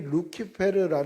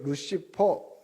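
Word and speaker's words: Lucifer: 는가 르라고 돼 있어요 루키페르이 루키페르 말을 영어식 발음으로 말한게 시퍼요 루키페르 이게 루시퍼 이렇게 된 거죠 그래서 그 근원이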